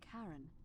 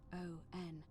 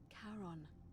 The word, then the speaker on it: Charon: The name you heard wasn't Karen. Okay. It was Charon, as in Charon, the ferryman of the dead.